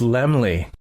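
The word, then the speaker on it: Laemmle: you do Mr Carl oh it's Lemley I was saying it wrong the whole time cuz that's where I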